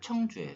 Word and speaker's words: 청주: 실효가 되면서 다시 조합으로 살아나기 시작하고 있는 것 같아서 인천이 내가 봤을 때는 인천이 아니고 청주가, 제가 발음이 안 좋은데 충주가 아니고 청주예요.